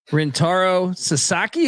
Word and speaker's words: Rintaro Sasaki: But they brought in this kid from Japan, Rintaro Sasaki. Am I pronouncing that correctly? Correct.